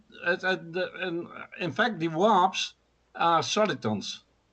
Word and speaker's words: Warp: In fact, the warps are solitons. How do you pronounce?